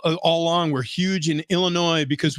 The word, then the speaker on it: Illinois: along we're huge in Illinois because we don't pronounce the S we refuse to yep because we're polished